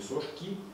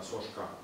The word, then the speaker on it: Сошка: глушитель Сошка именно Сошка правильно произносить не сошки а Сошка вот ресивер и ресивер